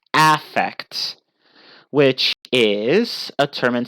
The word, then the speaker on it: affect: noun but it but in that case would be pronounced differently it would be pronounced affect which is a term